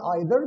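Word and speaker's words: either: पहले को हम कहते हैं ईच, दूसरा हमारे पास है ईदर या आइदर, दोनों पढ़ सकते हैं। तीसरा हमारे पास है नीदर या नाइदर। Both pronunciations are correct, आप इनमें से कोई सा प्रोनाउंसिएशन पढ़ सकते हैं।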